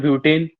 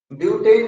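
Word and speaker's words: butene: सर ब्यूटेन। ब्यू क्या, ब्यूटेन? हाँ सर। ब्यूटेन नहीं, ब्यूटीन, ENE।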